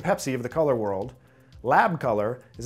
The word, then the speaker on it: Lab: The first thing to discuss is it's not actually called lab. Most people, when they see the color mode, they pronounce it that way because it's got a capital L and a lowercase a and a b. It's actually pronounced L.A.B, and the reason that